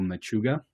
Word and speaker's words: Machuga: an upcoming book that you have with Michael Machuga. Did I Yep.